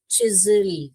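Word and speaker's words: chisel: तो यहां पर आप देखोगे इसको कैसे पढ़ोगे बेटा? इसको चिजल चिजल करके पढ़ोगे।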